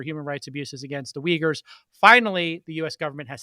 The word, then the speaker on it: Uyghurs: million are uyghurs uh which is spelled u y g h u r s but pronounced uyghurs which is a muslim